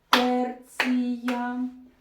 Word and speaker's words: терція: Терція септима. Наголос на перший склад.